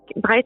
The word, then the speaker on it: Brigid: Bride, ça s'écrit Brigide, B-R-I-G-I-D.